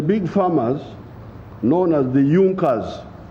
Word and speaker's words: Junker: it had the big farmers known as the youngers it's written in junkers but it's pronounced as junkers in the german kingdom of